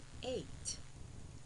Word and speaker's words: eight: h slay s l e i g h eight e i g h t eight now boys